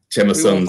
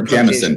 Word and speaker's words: Jameson: What's your particular Jameson? Yeah, no, Jameson like a diamond. Like a diamond is a gem, so a Jameson.